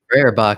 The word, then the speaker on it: Feuerbach: the Feuerbach. There you go. Thank you for pronouncing that for me.